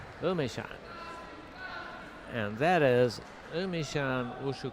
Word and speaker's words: Emeishan: You know, it's spelled Emeei. It's pronounced Emeishan.